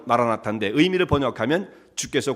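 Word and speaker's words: מָרַנָא תָא: 이 아람어로 아람어의 발음은 마라나타인데 의미를 번역하면 주께서 곧 임하신다라고 하는 뜻이에요.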